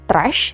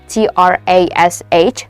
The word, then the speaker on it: trash: Contohnya adalah trash. Oke. T R A S H. Trash. Oke. Jadi bacanya bukan tras. Oke. Tapi ada heh-nya. trash.